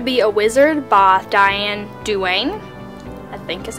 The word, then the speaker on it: Duane: So You Want to Be a Wizard by Diane Duane, I think is how you pronounce that.